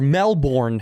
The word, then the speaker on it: Melbourne: We shot in Melbourne. uh or Melbourne as Americans say it.